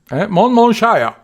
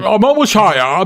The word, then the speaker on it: Monmouthshire: Monmouthshire. Excelente pronunciación. Monmouthshire, my friend.